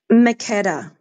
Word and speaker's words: Makeda: And my sister Kida, what you if I'm pronouncing your name correctly, is it Keda or Kida? Makeda. Makeda. I said Keda.